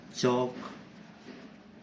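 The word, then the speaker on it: chalk: ऐसे ही चौक, इसमें भी एल का कोई साउंड नहीं है हमारा, है ना।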